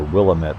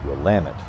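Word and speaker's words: Willamette: is and of course everyone thinks it's the Willet River but of course the locals pronounce it ramit and um heard that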